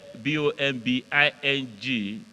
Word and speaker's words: bombing: bomb the B sound but when anything now flows out of follows the I the B like b o b o m b i n G that b is now silent you swallow that b the second B so it's bombing our students can you